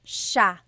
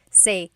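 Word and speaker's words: siya: It's sha sha. The s iy combination makes the sha sound in tagalog. Some regions say sa but in the luzon central luzon area in that gagalog region it's sha sha.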